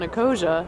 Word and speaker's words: Ecosia: Because every time you search on Ecosia, I think that's how you say it, right?